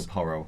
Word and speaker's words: Porro: Pedro Porro. Oh, is that how you say it? Yes. Yeah, it's not Pereira.